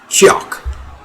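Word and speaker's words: Tsioque: Syokyu? Oh, pronounced Chiok.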